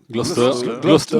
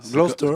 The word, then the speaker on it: Gloucester: Gloucester. En fait, on prononce pas le. Non. Gloucester. Comme Leicester, Gloucester.